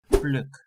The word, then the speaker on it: pluk: A pluck of hair or pluck a flower is pluk.